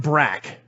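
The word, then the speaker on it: Brak: brac yes brac and you know bro no brac now i want you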